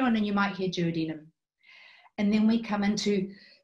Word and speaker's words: duodenum: apologize for my pronunciation in my country we say Judy and I know you guys say duodenum but I'll try to